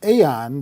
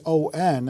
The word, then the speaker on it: AAON: that you want to profile for us is pronounced Aon the ticker symbol a AO n and that's how the company's name is spelled